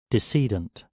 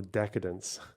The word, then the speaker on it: decedent: Give me pronunciation. Decedent. Decedent. Oh, because they're dead. Jesus Christ. Of the decedents and firing several times, not the decadents.